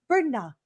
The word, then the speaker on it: Bernat: Okay, so she's Christine Bernat. You don't pronounce the T, I was told.